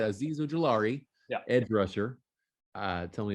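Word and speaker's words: Azeez Ojulari: up next we've got excuse me on the pronunciation of this it's aziz uh oh jalari you got it you got it all right azizo jalari ed rusher uh tell me about this man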